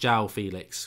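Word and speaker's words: João Félix: Club the a theme Freeman says it's pronounced jowl Felix great couldn't give really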